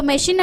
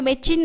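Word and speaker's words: machine: இப்போ மெஷின் அப்படிங்கிற இடத்துல நம்ம மெச்சின் அப்படின்னு சொல்ல முடியாது. ஸோ மெச்சின் அப்படின்னா அது என்ன வேர்டு அப்படின்ற மாதிரி இருக்கும், மெஷின் அப்படின்னா தான் அது கரெக்டாக இருக்கும்.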